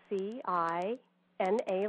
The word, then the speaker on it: Cina: My website address is Cina, and that's spelled C-I-N-A, like Tina, but with a C instead.